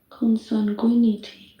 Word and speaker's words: consanguinity: Consanguinity. Oh, I need to know how to pronounce this.